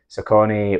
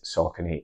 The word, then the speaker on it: Saucony: some of you might be wondering why I'm pronouncing the brand s because you might have heard others say sakone or sa without going into all the history